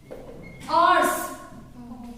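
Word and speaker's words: ours: आर्स। इसको हम over बोलते हैं, जो हमारी सबसे क्या है? Wrong pronunciation. अवर्स, आर्स, जिसको बोलते हैं आर्स।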